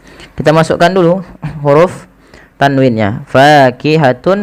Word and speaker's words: فاكهة: Fakihatun menjadi fakihatu. Langkah yang kedua yaitu ditahan suara wawnya.